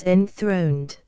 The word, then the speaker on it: enthroned: inhabitants of Heaven as enthroned the accent here falls on the first syllable of the word 12 yet some there